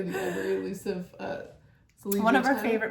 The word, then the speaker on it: Zellige: It's from Zellige. Zellige. Zellige. Zellige. A type of mosaic. Zellige. Zellige. Zellige. Okay, so we're all pronouncing it wrong.